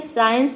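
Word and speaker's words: science: कर रहे हैं, यहाँ पे सी को हम प्रोनाउंस नहीं कर रहे हैं। एसेंट का मतलब होता है चढ़ाई। अगला वर्ड है साइंस यानी कि विज्ञान।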